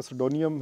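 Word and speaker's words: pseudonym: Next question है, basically इसमें pronunciation इसकी काफ़ी डिफ़िकल्ट है। सुडोनियम हम कहते हैं अनोनिमस नेम, फेक नेम, जब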